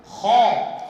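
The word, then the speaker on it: خ: অতিরিক্ত করি এটা হবে না আবার একেবারে যে খর হবে না তা নয় খরখটা হবে বাতাসের সঙ্গে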